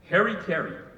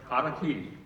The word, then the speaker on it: Harakiri: the first one is I've heard the mispronunciation of the title haraki so uh maybe all of you have heard that mispronunciation too as Harry carry so from here on everybody here's got to pronounce it correctly Kaki um and then the